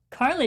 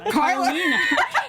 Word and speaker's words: Carlina: Carla doesn't. Carlina. See, before the show, we were mentioning names, always mispronouncing, and I just did it.